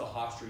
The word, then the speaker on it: Hofstra: Which really sucks if you went to Hofstra University in the northeast of the United States. There's actually a university called Hystra. That's H-O-F. Yeah, but it's pronounced Hofstra.